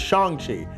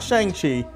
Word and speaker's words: Shang-Chi: So yeah, the pronunciation is Shang-Chi, not Shang-Chi, Shang-Chi.